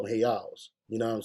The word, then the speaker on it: real: clever uh Hey out the r is pronounced like an H so uh they call them rias or hey Al they really call them hey owls you know what I'm